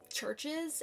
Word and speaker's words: Chvrches: It was Churches, except it's spelled Chvrches.